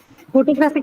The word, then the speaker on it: photographic: Photographic is an adjective, yes. And it is 3 syllables. It is So, 3 syllables. but here the stress is on this third one.